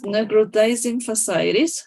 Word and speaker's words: necrotizing fasciitis: And in necrotizing fasciitis, that's how you pronounce it? Yes, necrotizing fasciitis.